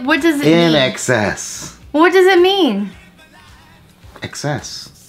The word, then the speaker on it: INXS: you do something in excess oh oh I see but the band is I nxs no it's spelled it's just that's just the spelling okay but it's it's called an excess I never heard of